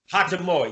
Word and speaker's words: Hachimura: Hachimura, yeah. sound like hibachi or something like that.